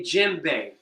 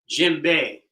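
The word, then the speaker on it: djembe: Uh, the D is silent, so some people just spell it J E M.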